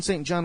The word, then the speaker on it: St. John: It's not Johnson. It's Austin St. John.